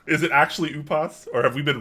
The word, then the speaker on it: Upas: do you pronounce your name is it actually upos or have we been wrong this whole time oh i say ubus okay oop yeah i was about i wasn't